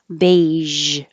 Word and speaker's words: beige: Doesn't look like it, but this GE is a j, beige, beige.